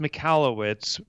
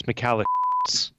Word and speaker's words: Michalowicz: your last name yes those pronounced makalah wits but if you're an old high school friend of mine its McAllen so occasionally people will